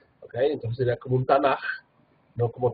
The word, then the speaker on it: Tanaj: final, y por eso se pronuncia suave como J y no como K. ¿Okay? Entonces sería como un Tanaj, no como Tanak.